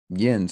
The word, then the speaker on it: yinz: is in pittsburgh is yinz yen's i haven't even known that i didn't know that one they tend to spell it y i n z and it comes